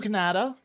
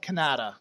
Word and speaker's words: Kanata: western side it's called kannada it spelled the phonetically the way the native Canadians would have spelled kanata as their village and it's it's kind